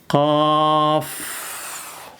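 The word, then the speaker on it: قاف: Qof qof ada f-nya di akhir.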